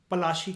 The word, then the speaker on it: पलाशी: ये प्रोनाउंसिएशन है पलाशी की।